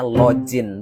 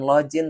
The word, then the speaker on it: login: Nggak semua huruf G di dalam bahasa Inggris dibaca J. Contohnya kata ini. Ini berhenti ngomong ini pakainya login. Bukan login tapi login.